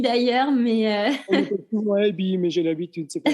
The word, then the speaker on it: Aebi: Eby étant un nom très suisse, ça s'écrit A-E-B-I. Oui, A-E-B-I. Les Français ont un peu de la peine avec ça, mais c'est pas grave.